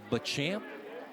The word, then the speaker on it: Beauchamp: It's Beauchamp. It's B-A in front of Champ.